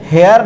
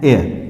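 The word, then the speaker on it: heir: हैं, ये आवर, और हम इसे हेयर नहीं पढ़ते हैं, इसे हम पढ़ते हैं एयर।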